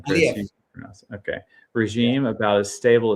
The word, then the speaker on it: Aliyev: How do you pronounce that name, Chris? Aliyev.